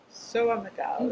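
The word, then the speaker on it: São Miguel: Soa Miguel. It's lovely the way it's pronounced.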